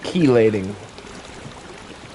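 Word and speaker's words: chelating: It forms a c sound like key. Like put my key in the door.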